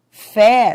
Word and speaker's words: fé: Mês tem timbre fechado. Mês. Fé tem timbre aberto, mas ambas são tônicas porque são fortes.